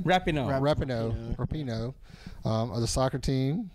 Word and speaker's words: Rapinoe: Megan Rapone, is that how you say her name? Rapinoe.